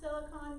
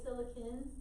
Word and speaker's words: silicon: No, I always heard it pronounced silicon growing up. Some people say silicon now. So that's fine as well.